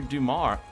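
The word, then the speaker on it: Dumas: So I mean good on Alexander Dumar Duma I believe is how you pronounce his name for you know making a story like that.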